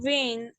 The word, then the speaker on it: vine: that makes, excuse me, English is funny in that the I doesn't make an E sound, it makes a I sound. So vine and silent E.